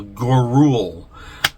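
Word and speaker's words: Gouroull: Dr Frankenstein uh and it is spelled g u r o u l l gorule uh is his name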